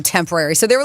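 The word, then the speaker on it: Tempoarie: settled on oh wait Tempo a pronounced temporary it's spelled t e m p o a r i e temporary wow the Hope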